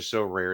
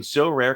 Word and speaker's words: Sorare: Our new sponsor, So Rare, is a revolutionary fantasy baseball game and marketplace